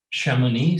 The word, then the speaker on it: Chamonix: live so I get an idea how to pronounce it correctly? Chamonix, Chamonix.